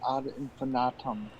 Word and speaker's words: ad infinitum: And it's actually pronounced ad infinitum because there is not an I, it's an A. Hmm. Americans tend to throw an A in there because of how we spell infinite, Look, but we're in